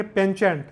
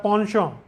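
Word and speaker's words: penchant: देखिए इसके बाद एक वर्ड है जो नॉर्मल आप पढ़ेंगे पेंचेंट, लेकिन इसका प्रोनाउंसिएशन होता है पॉन्शॉ, पॉन्शॉ, प्रेफरेंस.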